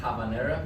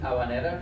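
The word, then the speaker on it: habanera: sometimes we call it havanera but we don't pronounce the h it's silent in in Spanish so it's aan because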